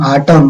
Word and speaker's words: autumn: On that lovely autumn, autumn नहीं होता, autumn, column, autumn. Whenever we find any spelling ending an before that word, any am, we need to pronunciate it autumn.